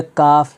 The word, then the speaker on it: calf: इसी तरह काफ, CALF, काफ, काफ का माना होता है